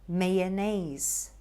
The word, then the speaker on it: mayonnaise: things as well the right pronunciation for this one is mayonnaise mayonnaise this one is very